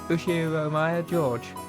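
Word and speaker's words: Ushiromiya George: His name is pronounced Ushiro Maya George.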